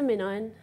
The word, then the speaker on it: MinION: at the start right this is a minion that's the midnight pronounce it the same if you type